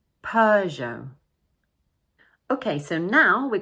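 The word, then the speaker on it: Peugeot: one is stressed, and don't forget the silent "t" at the end of the word. So we pronounce it: Peu-geot Peu-geot Okay so now, we are going to look at a few British makes.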